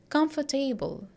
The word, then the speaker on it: comfortable: table so they'll say comfortable but it is not comfortable it is comfortable comfortable here we are not pronouncing it as table but else T table